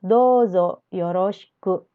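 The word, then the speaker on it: どうぞよろしく: dozo yoroshiku dozo yoroshiku walaupun di sini tulisannya douzo yoroshiku Tapi bacanya adalah dozo yoroshiku jadi ou yang ada di sini itu dileburkan bacanya jadi on conya panjang dozo yoroshiku dan C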